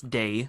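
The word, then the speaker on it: Dae: But yeah, Day so, is spelled D-A-E. I don't know if I'm saying it right, but I think it's Day.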